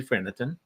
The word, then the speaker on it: Phernetton: Did I say it right? I felt like we were talking about Mexican food, so I kind of put a Mexican accent on it. It's French Canadian, but you were close.